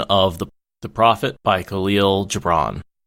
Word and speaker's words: Gibran: They did a double version of The Prophet by Khalil Gibran. Nin says hard G. The Prophet by Khalil Gibran.